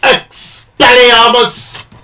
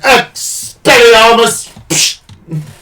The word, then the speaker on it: Expelliarmus: You have to say it like Expelliarmus. You gotta put more emphasis on everything for some reason. Expelliarmus.